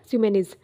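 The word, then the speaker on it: Pseumenes: Okay, तो ध्यान में रखिएगा एक न्यू स्पीसीज है of wasp belonging to genus स्यूमेनिज, पी यहाँ पे साइलेंट है, स्यूमेनिज सियांगेसिस।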